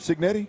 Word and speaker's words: Cignetti: Kurt Cignetti?